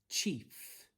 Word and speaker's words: chief: So for these words, we're looking to pronounce it as an E sound. So I've got sh-e-old, shield. F-e-old, field. And lastly, ch-e-f, chief.